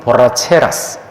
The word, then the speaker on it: borracheras: 스페인어의 이 발음하는 게 한국 사람한테는 정말 힘든 단어입니다. R을 2번 쓰면 R가 되거든요. 이 단어를 발음을 한국 사람들이 잘 못해. 우리는 리을 하나밖에 없잖아요. 그죠? 근데 스페인어에는 엘레가 있고 에레가 있고 에레가 있습니다.